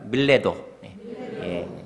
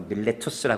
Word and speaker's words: 밀레도: 딱 찍어 놓으시면 좋겠어요 발음도 한번 같이 해볼까요 밀레도 영어로 밀레투스 하는데 밀레도 있니다 레도라 하는 것은 에베라